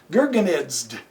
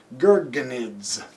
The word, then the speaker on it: Gurgenidze: Now, his opponent, hard to pronounce these guys, man. Gurgenidze. G-U-R-G-E-N-I-D-Z-E. Gurgenidze.